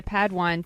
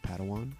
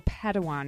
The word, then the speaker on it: Padawan: family reunion Master Yoda assigned a padwan to this bold ji think it's pronounced Padawan oh Padawan excuse me hey it's getting